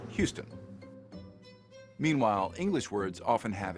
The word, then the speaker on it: Houston: rule thing that's why French speakers will call the Texan City Houston instead of the English Houston meanwhile English words often